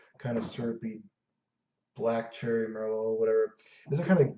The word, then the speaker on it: Merlot: of those black cherry Merlot, a black cherry Merlot, black cherry Merlot. I think the T is silent.